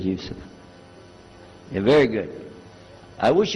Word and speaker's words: Yusuf: yusuf do you say youssef and he said yusuf you're very good i wish you teach my wife she keeps mispronouncing it she calls me useless now how many of you were in the